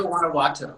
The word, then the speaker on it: Guanajuato: How do you pronounce that city's name again? You live It's Celaya, Guanajuato.